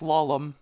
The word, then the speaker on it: Slalom: Yeah, it's pronounced Slalom. I looked it up several times. It's Norwegian.